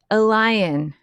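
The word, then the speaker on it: Eleen: And this is the woman we were talking about earlier and her name is a lion, but it's spelled Eileen, right?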